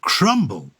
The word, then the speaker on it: crumb: course related to the crumb with the silent B um The Bee was